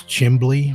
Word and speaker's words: chimney: And heard a chimney pronounces chimbly with a B in it, or trying to think of some more examples.